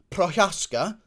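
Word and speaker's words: Procházka: tone anyway either way the surname is pronounced prochaska okay i'm looking forward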